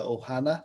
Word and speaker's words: ohana: i i hope i say this right the ohana is that how it's pronounced yes the blood runs deep traditionally with